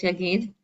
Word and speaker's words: Yagod: We have our dear friend tonight, Frimet, Yagid, spelled with an O, but really it's Yagid.